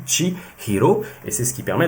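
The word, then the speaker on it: 千尋: ce sera 1000 recherches en japonais se dit tchi Hiro et c'est ce qui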